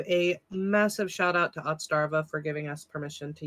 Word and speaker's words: Otzdarva: And how's his name pronounced? Otzdarva, and his YouTube channel is not Otzdarva.